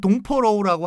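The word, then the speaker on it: 东坡肉: 이게 그 중국 발음은 동포로우라고 하는데 우리 말은 동파육인데 이게 시인, 중국의 기라성 같은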